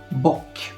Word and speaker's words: bok: bok czyli Kozioł boki wcześniej wspominałem że krótkie o wymawiamy jak u st ale jak się okazuje zdarzają się też wyrazy gdzie to krótkie o wymawiamy jak O właśnie ten bok chociażby co jest Przyznam trochę